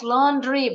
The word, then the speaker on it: laundry: in the laundry Yes laundry betul bacanya bukan laundry a u bunyinya O tadi laundry itu cucian